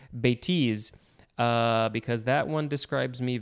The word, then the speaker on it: bêtise: I think maybe I said bêtise before, but the emphasis is on the second syllable, bêtise, because that one describes me very well.